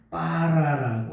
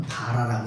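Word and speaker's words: ברא: 여러분, 여기 태초의 하나님이 천지를 창조하셨다고 말씀하시는데이 창조했다라고 하는 동사가 빠라라고 하는 동사예요. 이거를 물론 바라라고 있기도 하는데 아 저기 강점을 살려서요 강조점 경강점을 살려 가지고 읽으면 빠라라고 읽는 거예요.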